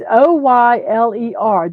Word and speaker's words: Euler: It's Oyler. That's how they said to pronounce it.